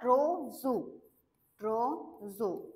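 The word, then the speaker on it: trousseau: एस एस ए य तर याला ट्रो ट्रोझो असं प्रोनान्स करायचं ओके ट्रोझो म्हणजे काय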